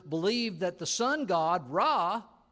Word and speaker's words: Ra: that the sun god raah or Reay as is sometimes pronounced was that which gave